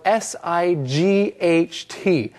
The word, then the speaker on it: sight: Now, it's important to know that there is another word that sounds like this, site, and that is spelled S-I-G-H-T.